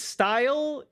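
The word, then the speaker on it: Steil: Wait, his name is His name is Style. But Steel is right there. Why would why would you pronounce it that way?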